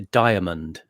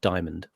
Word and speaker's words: diamond: Actually, there's they make you say, when you do receive pronunciation, it's a diamond. It's a 3-syllable word. It's not diamond.